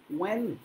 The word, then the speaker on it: when: Unfortunately, when he was only 2 years old, when মনে আছে তো, when নয়, when এইচটা উচ্চারণ হয় না।